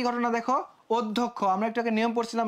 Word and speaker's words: অধ্যক্ষ: তারপরে কি ঘটনা দেখো অধ্যক্ষ আমরা একটু আগে নিয়ম পড়ছিলাম ভাইয়া অর পরে যদি একটা জ ফলা থাকে তাহলে কি হয়ে যাবে সেটা ওর মত হয়ে যাবে তার ফার্স্ট কাজ তোমার